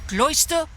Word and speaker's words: Closter: let you know that Closter rhymes with moisture why ah I skipped